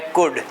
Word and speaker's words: could: की बात करें तो सी ओ यू एल डी इसके अंदर एल साइलेंट हो गया मतलब ओ यू के बाद में जो एल आता है वो एल साइलेंट हो जाता है आप इसे कुड नहीं बोलेंगे आप इसे कुड बोलेंगे तो सिंपल तरीके से